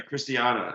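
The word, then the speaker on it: Christiane: name is christina uh it's chris i can't pronounce christian it's cristiano it's christiana yeah yeah christiana and uh her maiden name was harlan and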